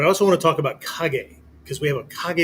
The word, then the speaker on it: KAG: long time has been Kag 36. K A G-36. Yes, Virginia is pronounced Kag, not cage with a K.